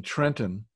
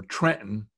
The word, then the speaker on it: Trenton: the State Museum Planetarium in Trenton, or Trenton, as it's properly pronounced.